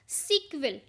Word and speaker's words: SQL: और इसकी जो प्रोनाउंसिएशन है वो क्या है, सीक्वल। कौन सी लैंग्वेज बोलते हैं, सीक्वल लैंग्वेज बोलते हैं।